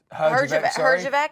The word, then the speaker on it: Herjavec: So Shark Tank's Robert, and I'm not really sure how to pronounce his last name. It's Merjavec. Herjavec.